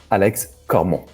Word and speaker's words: Alex Cormont: so for the audience how do you pronounce your name the way it's supposed to be alex como beautiful and we were